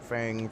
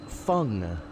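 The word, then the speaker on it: Feng: You've been pronouncing it like Fang for the past 5 years. Exactly. But apparently it is fun. Like fungus. Uh-oh.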